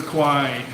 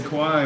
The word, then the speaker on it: Kwai: this really annoys people the river kwai and annoys thai people when you say cry but it's spelled in English how I cry anyway we're going to